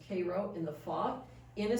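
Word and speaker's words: Cairo: Puck and Jim pass kro pronounced Koo in the fog in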